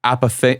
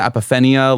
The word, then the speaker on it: apophenia: what we see like the and i always pronounce this wrong like the apathy apophenia apophenia like connecting unrelated things together and like seeing